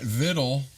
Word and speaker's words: victual: right so I learned I learned that vidle what I learned today is spelled v c t u a l victual that's what I mean